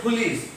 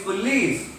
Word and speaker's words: police: Otherwise, you will say police. No, it's police. L receives the accent.